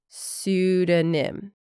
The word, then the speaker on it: pseudonym: It's also known as a pseudonym, with a silent P in the beginning. Pseudonym.